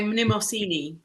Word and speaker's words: Mnemosyne: I say Mnemosyne. Yeah, that's what I thought. I was figuring I'd screw that up. Mnemosyne.